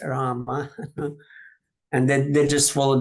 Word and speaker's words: Rama: But I'm sure that many people are just not aware that, Ramo is not as proper as Rama.